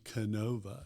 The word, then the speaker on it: Kenova: And uh you know the pronunciation Kenova, it's uh it's where uh Kentucky, Ohio, and West Virginia meet on the Ohio River.